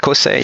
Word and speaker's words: Cossé: Is that how you pronounce their names? Yeah, that's correct. Cossé, yes.